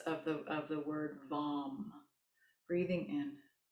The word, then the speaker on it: vam: root chakra this week it's vom v as in victor a.m vom kind of in between v-a-m and v-u-m somewhere so we'll just bring